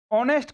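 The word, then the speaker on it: honest: क्योंकि ऑनेस्ट को जब हम बोलेंगे ऑनेस्ट का जो हमारे पास प्रोनाउंसिएशन निकल के आता है वो आता है ओ से शुरू होने वाला और ओ हमारे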